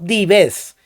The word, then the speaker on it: Dives: latina se le dio el nombre de dives pronunciado dives que significa hombre rico ojo aquí no se